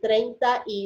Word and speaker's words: treinta y: know as one word you say treinta y you know hmm now to our ear it sounds like trade you know that's funny here but it's three words okay all right quick